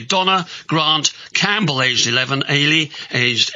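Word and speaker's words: Eilidh: Grant Campbell aged 11 ay aged 8 um as it's a Scottish form of Helen and is pronounced like Haley without the h ah thank you for explaining to me ay are you there going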